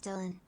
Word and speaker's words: Dylan: I would like to say it is correctly pronounced as Dylan.